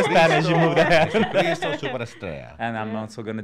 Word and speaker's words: Jesucristo Superestrella: How do you say Jesucristo Superestrella. Oh. Wow. Repeat after me. Jesucristo Superestrella.